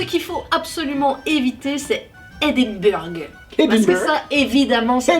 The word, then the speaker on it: Edinburgh: pas et tu le dis vraiment à la française, tu dis Édimbourg. Et voilà, un écossais comprendra que tu veux parler de Edinburgh.